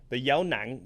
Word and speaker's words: dấu nặng: The dấu nặng tone should be ending in your throat. So if you can't feel that glottal stop, then you're probably not saying it correctly. You should be feeling it end there.